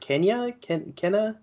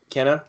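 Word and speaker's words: Kena: So after this, I think how is it pronounced? Kenna. Kenna.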